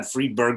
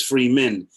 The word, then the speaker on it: Fridman: And it's not Freeberg, but it's Freeman.